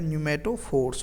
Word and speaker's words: न्यूमेटोफोर्स: तो रेस्पायरेशन के लिए जो रूट्स मॉडिफाइड होते हैं उनका नाम क्या है, न्यूमेटोफोर्स है। पी इसमें साइलेंट है, न्यूमेटोफोर्स बोलते हैं उन्हें।